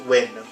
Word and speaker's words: Nguyen: antonio esfandiari and scottie nguyen yes like i said in previous videos although it's spelled that way it's pronounced win uh let's see we